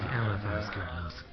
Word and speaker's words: Eliphas Guild House: Eliphas Guild House. Yes, emphasis on the second part.